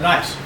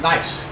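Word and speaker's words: gneiss: goes to schist are nice this rock is pronounced nice even though it's got a big g in there it's pronounced nice and that's what we're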